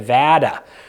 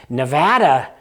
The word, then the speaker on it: Nevada: you a couple examples I got yelled at by one of our viewers for pronouncing Nevada wrong because if you apparently live in Nevada it's never Nevada who knows I don't know Nevada Nevada in New England where I'm from we say Nevada so that just sounds